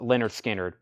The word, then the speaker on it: Lynyrd Skynyrd: limited edition red vinyl Leonard Skynyrd pronounced Leonard Skynyrd this is 36.99 Lynyrd